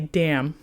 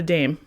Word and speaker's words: dam: mother, it is a dam, not a dame. I'll say it one more time. If an animal is a mother, it is a dam, not a dame. It's spelled D-A-M, not D-A-M-E.